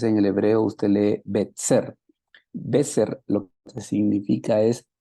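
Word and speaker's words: בצר: la letra Sade y la letra Sade en el hebreo tiene la pronunciación de ts entonces en el hebreo usted lee betser beter lo que significa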